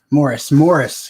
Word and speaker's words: Morris: How did I say her name last night? Morris. Yes, like the cat.